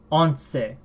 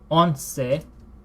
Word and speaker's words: once: actually so this sure same spelling as the English word once but in Spanish I believe this is pronounced on say on say and unlike